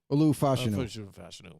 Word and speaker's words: Fashanu: I don't even know how to pronounce that guy's name. Olumiuia Fashanu. Fashanu.